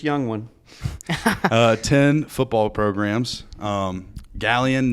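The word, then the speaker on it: Galion: Galleon native. That's how you pronounce it, correct? Mm-hmm.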